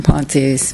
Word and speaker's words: Pont: Okay, so I would like to voice agreement with Commissioner Ponte's. Ponte or Pont? Pont. The E is silent.